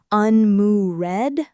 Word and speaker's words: unmoored: People see the word and want to say unmoored, like there are 3 full syllables, but in natural speech it's really just 2, unmoored. Unmoored. The ed at the end just becomes a D sound.